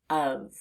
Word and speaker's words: of: the first part is the letter O is not making an expected letter o sound it's making the sound up as if it were the letter U so that's unexpected and